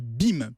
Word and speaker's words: Beam: doit à la société BIM. Ça s'écrit B-E-A-M. Ah oui, Alors, comme BIM.